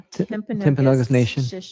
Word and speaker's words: Timpanogos: The Timpanogos Yeah.